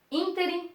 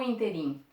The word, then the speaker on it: ínterim: Se é ínterim, 1, 2, 3, proparoxítona, se é proparoxítona, não pensa, leva acento.